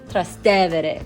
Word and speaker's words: Trastevere: Our guide drilled it into our heads and made us repeat after her, and that it is pronounced Trastevere, not Trastevere.